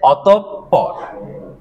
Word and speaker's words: অতঃপর: অতপর অতঃপর আমি যদি বানানটা এভাবে ভেঙে দিই আপনাদেরকে প ঠিক আছে অতঃপর ক্লিয়ার হ্যাঁ হ্যাঁ হ্যাঁ অতপর বলা যাবে না কি বলতে হবে অতঃপর বুঝা গেছে কোন বানানটি